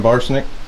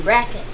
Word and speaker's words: Brackett: Brian Barsnick? Yeah. Is that how you say it? No, it's Brian Brackett.